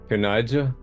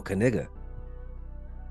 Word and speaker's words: Knigga: something yeah something it's kind of offensive right kija no kiga you a hear about the one you hear